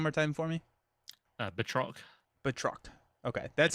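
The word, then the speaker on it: Batroc: uh he's French villain theory has the right pronunciation can you say it one more time for me uh betro betro okay that sounds way cooler than bat Rock the Batman spin-off yeah right he's a French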